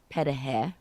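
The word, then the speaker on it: пироги: she did her pierogies which they call uh petahe which is ukrainian way to pronounce it are they different pierogies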